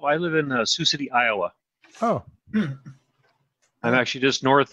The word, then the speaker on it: Iowa: So what is the correct pronunciation of Iowa? Is it Iowa? No, Iowa. Why do some people say Iowa? Iowa. Probably trying to pronounce the A, I suppose, there.